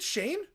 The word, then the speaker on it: Schoen: Wait, is it Shane or is it Schoen? Have I been saying it wrong the whole time? Have I been saying it wrong the entire time? Because Schoen, I never would have thought that's Shane.